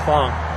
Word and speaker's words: Phong: the name of Phong, it's pronounced in English, it's pronounced Phong.